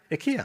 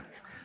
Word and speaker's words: Ikea: -Ikea! -Ikea, That is the reason they exist.